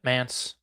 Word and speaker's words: Mantz: you have a cool name, Mans. Am I saying it right? Yep, Mans. Rhymes with pants.